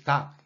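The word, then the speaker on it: 닭: And there are two more ways of making syllables. Look at this. This word is dak.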